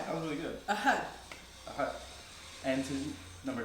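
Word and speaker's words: أحد: So to say 1, we say ahad. Ahad. Correct. That's really, 1. That was really good. Ahad.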